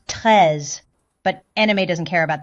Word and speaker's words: Treize: Treize is the word for 13 in French, so should be pronounced Treize, but anime doesn't care about that kind of stuff.